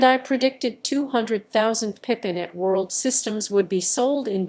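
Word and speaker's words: @World: us the black colored bandai pippen at world pronounced at world went on sale in the united states in june 1996 at a price of us 599.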